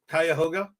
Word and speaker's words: Cuyahoga: I assume that it's Cuyahoga. Is that right? Cuyahoga? Is that the correct pronunciation?